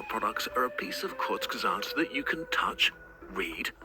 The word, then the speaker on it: Kurzgesagt: Kurzgesagt. Okay, that's how you pronounce it.